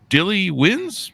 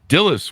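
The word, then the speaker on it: Dilys: and the Agatha, 2 Dilly Wins. Do I have that pronounced right? Dilly Wins? Dillis wins. Boy, they misspelled that. It's Dillys.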